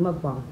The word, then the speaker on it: mukbang: but some people say mukbang because it is spelled like mukbang but it's actually mukbang this like i said again it's something